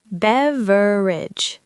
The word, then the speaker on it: beverage: Beverage. Three syllables means any drink.